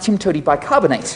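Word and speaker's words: TIMTOWTDIBSCINABTE: either and of course that is pronounced Tim to bicarbonate so how do we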